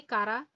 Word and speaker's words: Chara: তাহলে সেই মিষ্টি জলটা যদি কাদা কাদা হয় তবেই কারা? কারা? এর নামই হচ্ছে কারা। এইচ আর ঠিক আছে? অনেকে চারা বলে।